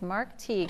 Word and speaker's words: Teague: And to help kids know what it sounds like, he says it rhymes with league. And it does. It does rhyme with league. So it's Mark Teague.